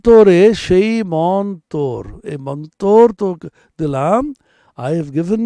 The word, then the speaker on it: mantra: Mantra is pronounced in colloquial Bengali as mantor.